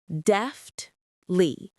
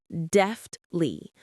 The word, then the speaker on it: deftly: Deftly. Deftly. The stress is on the first syllable.